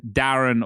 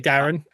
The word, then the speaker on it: Darren: that I usually say Darren, but that's a very English thing. I don't think Americans do. Yeah, they they definitely would do that. And it is actually Darren Karen. It rhymes and it Yeah.